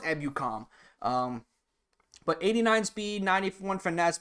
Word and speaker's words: Ebukam: His pronounce is Samson Ebukam, not Ebukam. However you said it, but it's pronounced Ebukam.